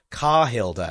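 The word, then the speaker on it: Karhilda: okay Hilda but every time you guys say kah Hilda and I'm like so is that like is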